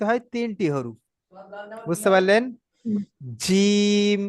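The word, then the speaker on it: جيم: জিম, জি। শিন, জি। ইয়া। দেখবেন আপনি উচ্চারণ করবেন জিম, সিন, ইয়া, জিম, শিন, ইয়া।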